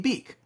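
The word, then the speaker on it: Beke: 1A is Cade beak I think it's beak it's be e ke so I think that's pronounced beak Kade beak from mck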